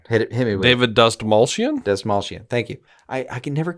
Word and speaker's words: Dastmalchian: Dastmalchian.